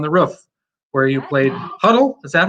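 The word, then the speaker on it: Hodel: And we've also got Fiddler on the Roof, where you played Huddle. Is that how you pronounce it? Huddle?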